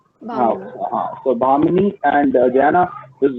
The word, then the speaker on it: Bhamini: Am I pronouncing your name properly? Is it okay? Is it It's Bhamini, right? Bhamini. Bhamini.